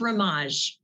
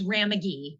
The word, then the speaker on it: Ramaj: It is pronounced Ramaj. Ramaj. I was doing long A's, and I just wanted to make sure. Thank you. It's all I answered anything. My favorite one was Ramagi.